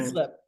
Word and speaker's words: Heaslip: I'm very pleased to welcome the amazing women's physique proathlete, and I didn't I forgot to ask pronunciation your last name. He slip. Heeslip.